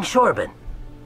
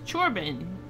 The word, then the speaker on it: Chorban: have any luck finding shoran you you wanted it to be pronounced chorban why didn't you put an S it's chorban ch is a CH sound uh did I have